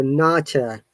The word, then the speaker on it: nurture: listening to us silently, in British English, both of these R is silent in this word. So, nurture. Can you hear it? Nurture. Nurture. Mhm. There is no R.